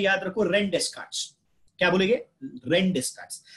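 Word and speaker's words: René Descartes: वैसे ही प्रोनाउंस करो, first one is rain डेस्कार्ट्स, इसको कोई रेने डेस्कार्ट्स नहीं पड़ेगा, इट इज रेन डेस्कार्ट्स, वापस बोल रहा हूं, क्या बोल रहा हूं, रेन डेस्कार्ट्स।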